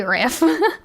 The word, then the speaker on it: RIF: You could pronounce it like the first half of riff-raff. Riff. Yeah. It's, I don't know why it feels weird to, like, say riff.